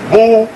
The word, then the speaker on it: Boule: Known as Boule, pronounced Boule.